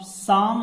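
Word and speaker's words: psalm: What according to the poet, कवि के अनुसार, और कौन से कवि, ऑफ साम ऑफ लाइफ। देखिए यहाँ पे P silent L V silent.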